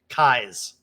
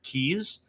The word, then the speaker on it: Keyes: the listeners out there my how you pronounce My Name by the way is it's like your eyes with a K in front of it okay okay kais right but as you